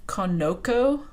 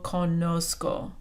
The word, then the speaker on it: conozco: form the yo form if it were regular it would be Conoco because you would take off ER and put an O and that's Conoco that makes this see a hard C so to keep it a little bit softer in Spanish it gets a spelling change to yo conozco it's trying to preserve an S sound that that the C